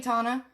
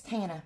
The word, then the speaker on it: Tana: How's that grandbaby, Tana? I'm pronouncing your name wrong. It's Tana, my bad.